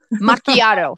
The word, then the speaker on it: macchiato: So my daily schedule, like that caramel, however you want to pronounce it, macchiato. Macchiato.